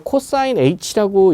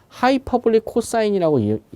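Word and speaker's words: cosh: 자, 암기를 하는데, 자, 이걸 이제 코사인 H라고 읽는 건 아니고요. 하이퍼블릭 코사인이라고 우리가 읽죠.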